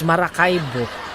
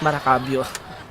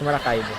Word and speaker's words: Maracaibo: I keep on forgetting the pronunciation. It's Maracaibo. It's not Maracaibo. It's Maracaibo.